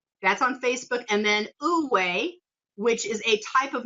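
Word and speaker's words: Wu wei: And then Uwe, which is a type of meditation. It's spelled Wuwei.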